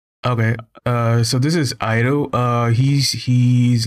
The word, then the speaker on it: Airu: the right way okay uh so this is iro uh he's he's like 9k he's a 9k